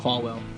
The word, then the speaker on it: Falwell: Falwell.